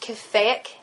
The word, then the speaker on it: caffeic: has a sorbic and i believe it's pronounced caffeic acid to prevent water retention